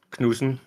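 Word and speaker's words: Knudsen: help you out here it's pronounced kusen but okay Fredick apologies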